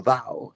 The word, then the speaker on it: Tao: un derivado del Tao El tao se pronuncia como dao en China y por deformación en